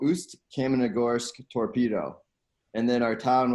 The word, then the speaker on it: Ust-Kamenogorsk: Yeah, so it was called Ust-Kamenogorsk Torpedo.